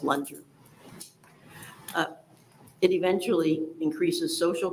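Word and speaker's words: Loontjer: p a t l o o n t j r pronounced lunger uh it eventually increases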